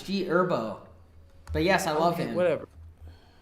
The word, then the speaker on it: G Herbo: The H is silent, bro. What? The The H is silent. It's G Herbo.